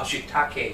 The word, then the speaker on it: shiitake: egg fried rice durio said shitake mushrooms oh shitake yeah it should be pronounced that way so this dish uh uses